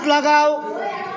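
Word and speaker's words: Leh: তাহলে হ্যাঁ, ওম বক্সি দেখো লেখা আছে।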